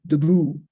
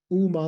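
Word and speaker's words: དབུ་མ: This is showing all of the letters that are, so there's a D prefix that's not pronounced, you don't pronounce it debu, it's just pronounced U, Uma La Jupa, entering the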